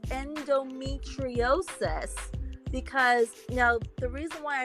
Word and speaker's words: endometriosis: it's pronounced endometriosis because now the reason why I'm bringing this up again is because I forgot to mention this earlier.